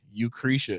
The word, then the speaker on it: Eucrisa: the thing spell that spell it for the people who like u c r i s a EU krisha it sounds like krisha it sounds like tomorrow's baby yeah the specific way